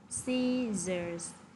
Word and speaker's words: scissors: Chữ sở đầu tiên của cô sẽ được phát âm là âm s. Và chữ sở thứ hai ở phía dưới này thì sẽ là âm z.